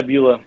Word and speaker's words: Beulah: So how do you pronounce it? Is it Beulah? Yeah, Beulah.